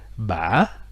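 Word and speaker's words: bã: Ça se prononce ba, donc c'est un petit peu comme l'accent interrogatif, hein, donc avec 3 temps, un temps montant, un temps descendant et puis une dernière montée, sauf que la dernière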